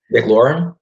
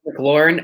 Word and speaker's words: McLaurin: terry how do you say his last name mclaren mclaurin out in washington oh dk matt has better